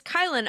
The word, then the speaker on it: Kylen: Hi everyone, my name is Kylen, otherwise known as Kyle with an N.